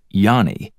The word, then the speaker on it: Johnny: seagard Johnny Hansen with the middle name pronounced Yanni even though it's an